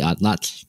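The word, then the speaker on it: atlatl: arrived in the Americas we called it the odd Lots which is how you say atlatal because that was the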